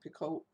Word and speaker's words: Picoult: But Jodi Picoult, I don't know how to pronounce her name, Picoult, Yes.